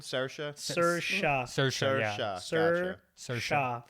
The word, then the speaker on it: Saoirse: Okay, so it's Saoirse with an E sound. Saoirse.